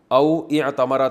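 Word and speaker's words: أو اعتمر: होता है उमरा करना औतमरा था मिला के पढ़ते हैं। अलिफ साइलेंट हो जाता है।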